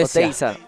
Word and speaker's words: Oteiza: How do you say the last name again? Oteiza. Oteiza. Oteiza.